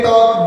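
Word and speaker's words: talk: अब देखिए इससे रिलेटेड जितने भी वर्ड्स हैं, अगर पढ़ने की बात करें तो हाउ टू रीड, TAL के टॉक, WAL के वॉक, CHAL के चॉक। ये L साइलेंट हो जाता है इससे, इस टाइप के वर्ड्स में।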